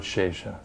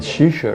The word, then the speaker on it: Shesha: the name of Lord Shesha? What did I say? Oh, Shesha. I thought you were saying I mispronounced it. I thought I said Shisha or something.